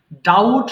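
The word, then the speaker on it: doubt: করা ডাবল ডাবল ডাবল ডাউট সন্দেহ করা এখানে বি এর লেটার যে আছে বি এটার উচ্চারণ হবে না সাইলেন্ট থাকবে সো এটা ডাউট হবে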